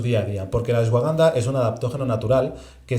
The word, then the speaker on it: ashwagandha: ¿Cómo se pronuncia? ¿Ashwagandha?